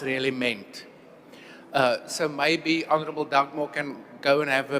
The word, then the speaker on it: Dugmore: Honourable Skosana, whilst the surname of Honourable Dagmore was indeed not pronounced Dagmore, it's also not quite clear to me that something else was really meant. So maybe Honorable Dugmore can go and have